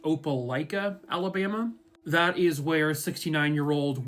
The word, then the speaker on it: Opelika: This case will take us to, I believe it's pronounced Opelika, Alabama.